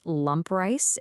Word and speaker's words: lampreis: The subject of our mystery today is lampreis. It's pronounced lump rice, and honestly, unwrapping a